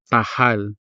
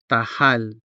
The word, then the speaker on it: tahal: The consonant ha is part of the stressed syllable, hal, and so it is clearly sounded, tahal, tahal.